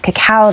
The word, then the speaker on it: cacao: I'm doing cacao this morning. That's how you pronounce it, cocoa, cacao, with some walnut milk,